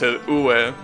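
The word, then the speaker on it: 上: There are kanjis like the kanji for up, which means it's pronounced ue.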